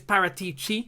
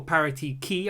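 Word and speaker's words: Paratici: at juventus paratichi if i think that is how the name is pronounced i think it's parity chi and not parity c or parity key i think it's parity chi i'm not sure though um but former juventus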